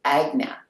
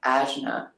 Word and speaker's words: Ajna: I think if you're in, when I Googled how do you pronounce Ajna, the Sanskrit would be Agna Chakra, but many people pronounce it Ajna.